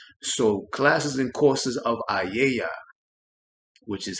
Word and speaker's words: A.A.A.Y.A.: So classes and courses of A.A.A.Y.A, which is how it's pronounced, I didn't even know it had a